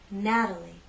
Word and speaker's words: Natalie: true T sound Matilda in this name we have three syllables and it's the first syllable that's stressed Natalie Natalie the t is part of an unstressed syllable so we use the flap t let me offer a